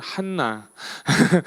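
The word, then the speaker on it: Hannah: 내용이에요 누가 누가 나오냐면 한나 한나 예 한나 하면 제가 생각나는 사람 있습니다 누군지 아세요 제 딸이에요 제 딸 이름이 해나 든요이 영어 발음으로 한나가 영어 발음을 해나요 그래 가지고 제가 원래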